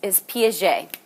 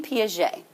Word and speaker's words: Piaget: Is Piaget, Jean Piaget. P-I-A-G-E-T is how you pronounce that.